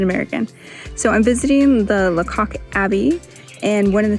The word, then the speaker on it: Lacock: It's pronounced Lacock, not Lacock.